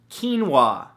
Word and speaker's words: quinoa: beautiful thing number two quinoa spelled ke en wuah no that's not how it's spelt at all but it should right